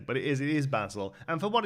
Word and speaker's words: Basil: content creators now refer to this card as basil um I have absolutely no problem with North